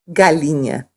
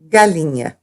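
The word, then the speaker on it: galinha: and fish chicken is Galina Galina you may notice that yeah sound in Galena that's because NH in Portuguese is pronounced yeah yeah it's kind of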